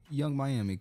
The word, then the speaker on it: Young Miami: Young Mammy or Young Miami? Young Miami.